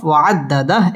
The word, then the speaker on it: وعدده: করে উচ্চারণ করতে হবে ওয়া'আদ্দা দাল তাসদীদ ওয়ালা হরফ ওয়া'আদ্দাদাহ এখানে ওয়াকফ করতে হবে